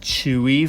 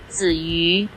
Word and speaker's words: Tzuyu: Not sure why the Korean Hangul has her name written like the commonly pronounced Chewy for her, but this is because the sounds are not exactly found in Korean nor English. Her name in Chinese is actually Tzuyu. I mean, I would have